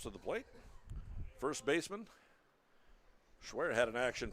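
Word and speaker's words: Schwehr: James schwar playing it's it's spelled s CH wehr pronounced schwear fouls this one away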